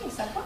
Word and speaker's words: Issaquah: ¿Así se pronuncia, Issaquah?